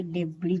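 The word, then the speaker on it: debris: डी ई बी आर आई एस। देखिए एस आई के साथ अंत में है तो उसे क्या पढ़ेंगे? डेबी पढ़ेंगे। यानी एस यहां साइलेंट है।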